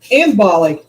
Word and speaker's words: Imbolc: Embolic.